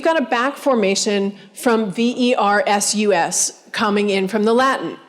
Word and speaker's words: versus: If you think about kids who are hearing on the radio or television, Sunday, the thunder versus the heat, Serena Williams versus Venus Williams. It sounds like V-E-R-S-E-S.